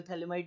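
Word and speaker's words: Phthalimide: ठीक है ना भाई, और पी तो स्टार्ट होता है क्योंकि पी साइलेंट है, ठीक है, इसको बोलते हैं थैलामाइड रिएक्शन, ठीक है, गैब्रियल थैलामाइड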